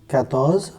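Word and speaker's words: quatorze: सो क यू ए आर टी ओ ज कैथस कैथस okay 15 ज कैनस कैनस कंस 16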